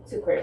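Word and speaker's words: Cukurs: I don't want to try to pronounce his name. You just did. Sucre.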